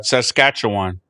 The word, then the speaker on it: Saskatchewan: Eddie Lee is on the uh watch list for Saskatchew, how do you pronounce that guy? Saskatchewan, whatever.